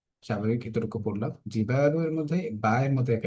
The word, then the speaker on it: الجبال: وسيرت الجبال فكانت سرابا، এই আয়াতের মধ্যে ওয়াসুইয়িরাতিল জিবালু, স্বাভাবিক এতটুকু পড়লাম। জিবালু এর মধ্যে বায়ের মধ্যে এক আলিফ টান হচ্ছে, জিবালু, জবরের বাম পাশে খালি আলিফ মাদের হরফ।